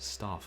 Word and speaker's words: Stauf: In addition to the puzzles themselves, Stoff obviously has had plenty of years to come up with the quips. Of course, if it is an anagram of Faust, maybe it should be pronounced Stauf.